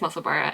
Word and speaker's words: Musselburgh: I hated when someone said Musselburgh, it's Musselburgh. It drives me up the wall, and I understand why, because in most places in the world, like the way that UGH is pronounced is erg.